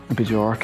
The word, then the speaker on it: Björk: Björk as well. Yeah, that's actually how you say it.